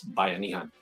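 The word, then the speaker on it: Buy-Anihan: I'm doing it now so by Anem to me it's spelled Buu y Buu Y and then a n i h n so that's Bay Anan because the reason why I call it Bay Anan is because it's it's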